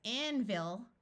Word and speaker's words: anvil: have a closed syllable so we have a short vow sound envil you could say it very clearly as Anvil but this is one of those words where the unaccented syllable tends to schah and the short I tends to turn to a short u envil we divide between the